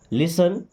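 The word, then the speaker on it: listen: do ever मी्स कभी तो लिसन टू मी लिसन मी सुनो देखिए टी साइलेंट है ना लिसन सुनो टू मी मेरी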